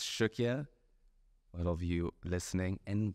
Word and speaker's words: Cukia: And if you look at how it's spelled, it's like C-U-K-I-A. It's not even close to what it sounds like.